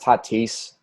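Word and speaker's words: Tatís: glad all right first of all trading it's pronounced tatis titties and second of all and second of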